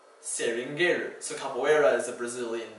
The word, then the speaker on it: seringueiro: But then, because Portuguese is sometimes spelled strangely like this, you occasionally have an EI for the A sound. Capoeira. Seringueiro.